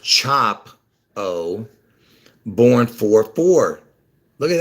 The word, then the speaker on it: Chapo: Luther King is was killed on 4-4 El Chapo chop the O the e-l Elvis has the e-l chap o even though it's it's pronounced chop o born four four look at that he's born